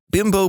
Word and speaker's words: Bimbo: Except it never really took off in America because we don't pronounce Bimbo like the Mexican manufacturer does. They pronounce it Bimbo, not Bimbo.